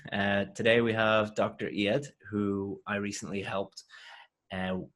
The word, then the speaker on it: Eyad: bit about you first okay my name is yet and dentist and I'm originally from Syria and